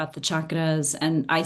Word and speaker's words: chakra: And so just with a hard CH chakra, and it just means wheel of life or spinning wheels of energy.